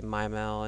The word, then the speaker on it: Mimal: I say Mimal and you'll see why I pronounce it that way.